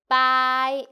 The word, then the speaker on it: 百: 我们一起读百波波I together 波I by good together is by and then we go third tone by very good.